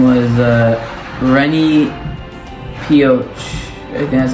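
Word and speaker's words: René Peoc'h: His name was Rennie Pioch. I think that's how you say it. It's Renepeoch.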